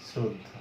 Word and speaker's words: শ্রদ্ধা: তাহলে এখানে কিন্তু শ্রদ্ধা রফলার সাথে, অর্থাৎ রফলা মানেই তো র এর সাথে যুক্ত আছে, ফলে এটার উচ্চারণও কিন্তু তোমার দন্ত স দিয়ে হবে, শ্রদ্ধা।